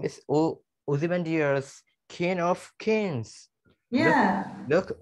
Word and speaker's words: Ozymandias: Okay, let's see the pronunciation. Ozymandias.